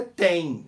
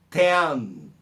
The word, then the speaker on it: ten: Você deve ter aprendido também que o número 10 é tem, não tem, é ten, ten. Tem, não existe essa pronúncia em nenhuma palavra em inglês. Tem é a pronúncia do verbo ter. Ele tem, no presente da terceira pessoa do singular masculino, ele tem. Não é tem, é ten, ok?